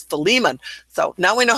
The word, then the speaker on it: Philemon: Because I was going, Philemon? No, it's Philemon.